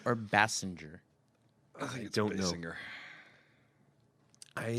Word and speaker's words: Basinger: Is it Basinger or Basinger? I don't Basinger. know. I think I've always said Basinger. I think early in her career, it was Basinger. People said that. But then everyone started pronouncing it wrong, and so now it's just what it is.